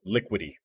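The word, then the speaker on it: Liquity: i t y so like liquid did it like like liquidity but without the d okay part so lu liquidy yeah liquid i'm gonna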